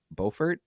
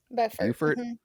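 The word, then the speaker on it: Beaufort: Is it Bowfort? Buffert. Buffert. There is a Bufort South Carolina. So don't confuse us. We're Buffert.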